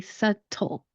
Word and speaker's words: subtle: Now, the second part of the word would be the TLE. In some accents that are different from mine, they pronounce the T sound. So it'll be subtle, t, t, the T sound.